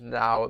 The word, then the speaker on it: Nao: now the present versus now the person um because her name is n-a-o but it is also um pronounced we could call her by her full name naoko naoko yeah we okay